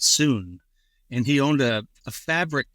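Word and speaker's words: Sun: One of the people who competed was Mr. Soon, they called him, S-U-N, but they pronounce it Soon.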